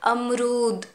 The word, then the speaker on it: अमरूद: आप देख सकते हैं र में बड़ी ऊ की मात्रा है, तो हम ये कैसे उच्चारण करेंगे? अमरूद। र को ज़्यादा खींचेंगे, थोड़ा, बहुत भी ज़्यादा नहीं लेकिन ज़्यादा।